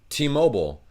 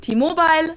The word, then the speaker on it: T-Mobile: name for the subsidiary but even though it's english it's pronounced differently in germany and the u.s true t-mobile versus t-mobile why i cannot tell